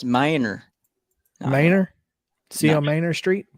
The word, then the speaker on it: Manier: street uh what's the how's it spelled m-a-n-i-e-r oh that's minor Miner see on Manor